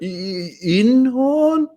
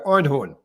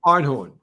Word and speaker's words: Einhorn: So I love the accent you put on when you try and attempt to pronounce someone's name. It's this innocent sort of Inhorn like don't criticize me.